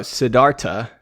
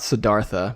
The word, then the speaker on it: Siddhartha: So, Siddhartha, not Siddhartha, apparently. Both David and I have been mispronouncing this book our entire lives.